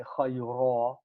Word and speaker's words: خَيْرًا: What it means is that when you stop, you pronounce the alif instead of the tanween, and you say khayra if you stop.